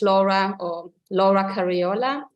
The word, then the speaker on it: Laura Cariola: up in Germany so I say my name between English and German or something it's Laura or Laura cariola and when I am